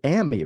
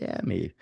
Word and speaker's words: Ami: a second um it's ammy right your mom's name is pronounced Amy or is it okay like Miami yeah because I because